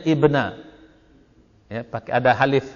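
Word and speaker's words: ابن: ada bahaya orang-orang ngerti dia bacanya Ibnu Ibnu atau Ibnu anak laki-laki siapa Graber gitu cuman karena gundul orang Indonesia suka bacanya bin istilahnya Ubay bin ka'ab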